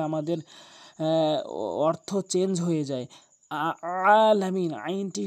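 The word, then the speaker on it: العالمين: আমরা করে থাকি, রব্বিল আলামিন বলি, আইনের জায়গায় হামজা এনে উচ্চারণ করি, যার ফলে আমাদের অর্থ চেঞ্জ হয়ে যায়। আলামিন, আইনটি হলকের মাঝখান থেকে এভাবে ভর দিয়ে আলামিন এভাবে পড়ব, তাহলে আমাদের শুদ্ধ হবে।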